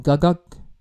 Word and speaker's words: กักกั๊ก: let me know um gagak so that's the correct pronunciation for for the song gagag featuring um G behind